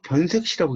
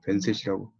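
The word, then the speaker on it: 변새시: 그 발표자가 변세시를 한자로 타이핑해 오셨는데 이걸 또 읽으실 때 계속 변색시라고 읽는 거예요. 변세시라고 안 읽고. 그래서 이제 플로에서 질문 있으신가요? 라는 말이 떨어지기가 무섭게 제가 질문했습니다. 발표자에게. 이게 글자가 막다라는 읽을 땐 색이죠.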